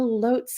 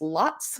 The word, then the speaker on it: Lotz: a franklin local um you probably like me have mispronounced the name of this place for oh say 20 years just like i have um l-o-t-z it's lots it has been lots to me forever um but i have